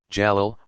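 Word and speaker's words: جلال: divine power and majesty jalal pronounced j-a-l-a-a-l and those that speak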